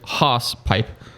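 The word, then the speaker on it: hawsepipe: We'll go to the horse, but phonetically pronounced here as hoss pipe.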